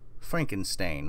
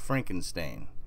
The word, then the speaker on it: Frankenstein: What if I was to tell you that it's not Frankenstein, it's Frankenstein in this new timeline? And quite a few people that I've asked have said Frankenstein. You know, like Ben Stein.